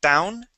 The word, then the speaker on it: town: the word town okay you would use the Spanish T saying Town Town it is TT town try that pound good